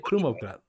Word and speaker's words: Krumovgrad: Apparently, Craig says it's Krumovgrad. Krumovgrad. That's how you say it, Krumovgrad.